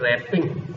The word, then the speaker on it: wrap: आपके दिया who text रैपिंग क्या लिखा है डब्लू आर ए रप double silent हो जाता है र टेक्स्ट लिखा है